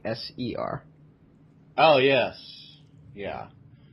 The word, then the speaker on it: Ser: It sounds the same as SIR, but it's actually SER.